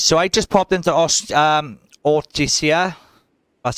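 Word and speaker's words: Ortysia: So I just popped into Ortisia. That's how you pronounce it.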